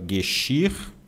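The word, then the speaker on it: Geschirr: Gexir. Eu vou colocar assim, tá? Mas não é gu, você nunca vai pronunciar gu é gxir.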